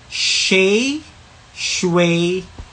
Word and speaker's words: Shae Shue K: Shay shway k.